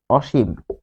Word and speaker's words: অসীম: তাহলে এটি হবে অসীম। অসীম যেহেতু থেমে যাচ্ছি তাই এখানে হসন্ত দিয়েছি তাহলে খেয়াল করুন দন্তস হয়ে যাবে তালব্যস কারণ দন্তস এর উচ্চারণ হয় তালব্যস এর মত এটি নিয়মে আছে দন্তস